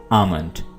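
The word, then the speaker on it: almond: आपने एल को साइलेंट रखना है और इसको पढ़ना है आमंड।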